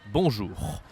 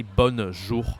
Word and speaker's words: bonjour: Bonjour. Be careful here of the pronunciation because most of the speakers, they don't know how to say O-N in French. So we don't say bonjour.